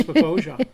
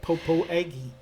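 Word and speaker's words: Popo Agie: And we learned how to pronounce Papoja. That's right. We did that too. It's not Popo Aggie.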